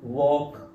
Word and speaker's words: walk: अब मैंने अपनी बुक में उसने रूल लिखा कि ALK जब भी आएगा इकट्ठा तो उसको क्या बोलेंगे, ओक की आवाज देगा, इसी प्रकार टॉक वॉक, है ना, तो बच्चे करेक्ट प्रोनाउंस करना सीखते हैं।